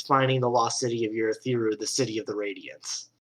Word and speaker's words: Urithiru: Is it pronounced Urithiru? Urithiru.